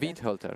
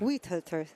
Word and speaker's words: Weihölter: Weihölter. Weihölter, thank you.